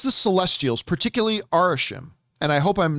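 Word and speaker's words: Arishem: says the celestials particularly arishim and I hope I'm not mispronouncing this I think it's arashim I think that's how you pronounce this celestial's name the big giant red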